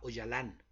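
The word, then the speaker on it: Öcalan: poco del señor abdulá hoy alan se escribe ocalán se pronuncia hoy alan hoy alan es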